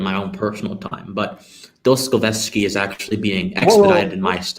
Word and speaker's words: Dostoyevsky: get through in my own personal time but dos scoveski is actually being expedited how do you say his name what's his name dostoyevsky okay hold on crap i say it even